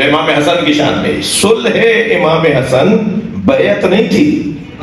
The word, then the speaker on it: صلح: ختم ہو جائے گی۔ صلح صحیح تلفظ صلح ہے، ہم صلح کہتے ہیں، تو دونوں کہہ دیتا ہوں۔ صلوات پڑھیں ذرا نبی